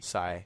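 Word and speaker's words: Sae: It's spelled Sai. S-A-E. Sai.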